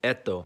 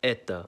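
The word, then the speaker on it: это: You think it would sound like eto, but it's pronounced as eta.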